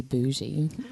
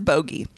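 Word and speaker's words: Bogge: I called it a bogey which bothered me because it sounds like a booger and spoiler alert you're right no I don't want it to be a it is bogey according to the court of thorns and Roses Wiki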